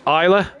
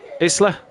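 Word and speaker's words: Islay: he said and also it's pr also pronounced isla isla isla right isle isla yeah there you go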